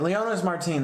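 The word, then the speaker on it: Leonys Martín: Mark Leon Martin uh Marty's Mar teen I don't even know how to say it Leona's Martine that's what it is who had a crazy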